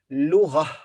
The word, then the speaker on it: لغة: Then تاء مربوطة here at the end, and we stop here, so we pronounce ها, H. So we say لغة, لغة, لغة, language.